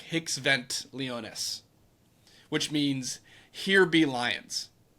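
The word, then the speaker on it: hic sunt leones: they would put in the Latin it's uh it's it's spelled uh h i c s v n t l e o n so it's like hicks vent leonus which means here be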